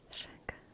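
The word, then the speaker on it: Chachere: Tony Sachery's, which is spelled with a C, even though Aunt Olivia spelled it the way it sounds with an S, which is fine.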